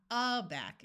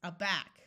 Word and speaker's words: aback: Adore, aback, acute, adult. O says in this word, afoot. Did you remember to accent the second syllable? It's not adore, it's adore. It's not aback, it's aback.